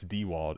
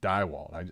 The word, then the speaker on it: Dewald: This is literally like the third or fourth time you tell me it's Dewald, and I just come in every time guns a-blazing Dywald.